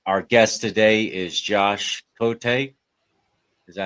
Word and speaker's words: Cote: You know, the French are a little weird with their pronunciation, but I always say.